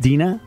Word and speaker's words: Dina: Number one, Dina, right? It's pronounced correct. Dina. Yes. Okay, Dina. I said Dinah when I first read it.